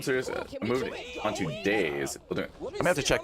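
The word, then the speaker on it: DayZ: I moved on to days building I have to check that out. I don't even know what that is, man. Uh so it's spelled that way. D A Y Z.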